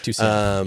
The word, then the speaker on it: Tucson: Am I pronouncing that right? Yeah, that's right. Tucson.